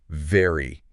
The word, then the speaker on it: very: So for V, yeah, your top teeth should lightly touch your bottom lip. Okay. And then you gently push air out to create that little vibration. Whereas W, you're rounding your lips. Right. Right. Okay. So let's let's try very together. Very. Can you feel that vibration? It's subtle, but it's there.